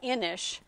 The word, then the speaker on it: Inis: And it is, this is pronounced Inish, even though it doesn't look like it, but that is the company.